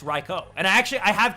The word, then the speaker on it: Raikou: uh to me it used to be suicune entei and raiku uh the entire time but i know now that it's reiko and i actually i